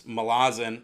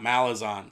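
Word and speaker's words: Malazan: you're bottling the pronunciation it's Milazzo not mallas on so apologies there but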